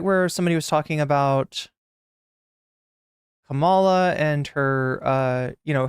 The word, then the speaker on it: Kamala: oh my God your Kamala is pronounced Kam Kamala Kamala like Kama not Kam or Kamal wait it's Kamala K